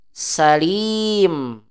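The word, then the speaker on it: سليم: wajib memanjangkannya Ibrahim begitu nanti ini dibaca Salim panjangin gitu Salim jamilq narmmi begitu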